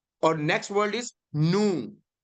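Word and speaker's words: nu: आ रहा है वो नू है, नू। और एन से एस का एन की तरह इसकी जो इसका प्रोनाउंसिएशन है, सो नू एज इन नेट, सो मू एंड नू।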